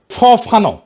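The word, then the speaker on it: Fanon: হবে ফরাসি আলজেরিয়ান চিন্তাবিদ ফানো ফানো নাম আসল উচ্চারণটা উনি বলছিলেন পরাধীন জাতিগোষ্ঠী লড়াইয়ের ভিতর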